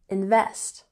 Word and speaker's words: invest: So, the company failed to invest, emphasis on the second syllable, invest, in new technology.